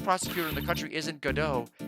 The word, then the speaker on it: Godot: But I guess it's just it has God in it. But you don't have to pronounce it God. You can pronounce it Godot.